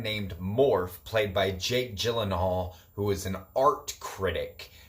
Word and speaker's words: Gyllenhaal: I've always been a Jake Gyllenhaal fan myself, and that's Gyllenhaal, not Gyllenhaal.